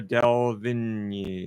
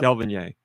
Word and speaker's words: Delevingne: Beautiful actress, Cara Delevingne. Yep. Delevingne.